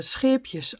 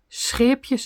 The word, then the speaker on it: Scheepjes: We have I think that's the most difficult thing in our language, the SCH, scheepjes, SCH. Yeah, we learn it at school very young. Scheepjes, you say, scheepjes.